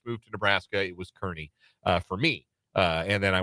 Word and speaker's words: Kearney: Yes, number one Washburn men, and taking on the Lopers of Nebraska Kearney.